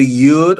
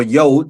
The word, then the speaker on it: Yud: Uh is either Yud or Yod. Some uh either pronunciation is acceptable.